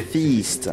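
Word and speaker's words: Feast: C'est pas facile à prononcer en français sans que ça passe pour un truc bah, sexuel. Tu dirais comment? Non, bah, c'est Fist.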